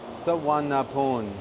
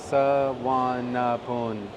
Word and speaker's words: Suvarnabhumi: So the pronunciation is Suvarnabhumi, Suvarnabhumi.